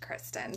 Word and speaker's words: Christian: i know for mine my name is spelled christian but it's pronounced kristen so it can be